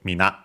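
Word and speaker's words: みんな: Uh less formal also uh but all both are accented on the last syllable. Mina Mina and means everyone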